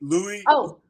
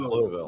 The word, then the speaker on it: Louisville: Louisville. You got to kind of like have a little marble mouth. Louisville.